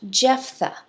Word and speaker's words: Jephthah: another son of gideon and his name is pronounced jephthah j e p h t h a h